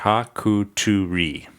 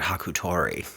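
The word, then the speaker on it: Hākuturi: Hakutori? Spell it. Haku. H-A, there's a line over the A. K-U-T-U-R-I. T-U-R-I. Hakuturi. Here, they spell it right here. Hakuturi. You said Hakutori.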